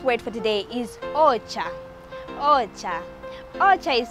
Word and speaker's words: ocha: Ocha. Ocha is spelled as O-C-H-A.